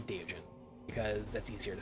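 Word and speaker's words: Deogen: So apparently it's pronounced Daogen. Daogen. That's how it's pronounced in Dutch. I'm just gonna say Diogen because that's easier to say.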